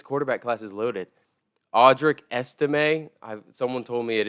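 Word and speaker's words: Estimé: class is loaded audrick estimate I've someone told me it is pronounced estimate you do pronounce the T I don't know why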